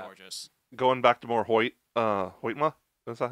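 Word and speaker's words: Hoytema: Going back to more Hoytma, is that how you say it?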